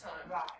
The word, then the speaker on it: thyme: Pronounce time. Like fresh thyme? Pronounce time. Like fine. Like the plant.